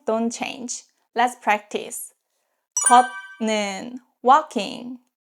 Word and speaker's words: 걷는: 걷는, walking. 걷 ends with T sounds, 걷, and then 는 is start with ni은. This case is pronounced as 걷는, 걷는.